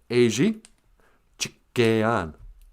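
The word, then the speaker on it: ezhichigeyan: Well, E's are like A's. So you say Eji Chikean.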